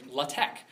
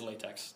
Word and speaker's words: LaTeX: and they listed python the programming language and latek spelled l a t x Mis commonly mispronounces as latex does anyone here know latch does anyone like a like a research thing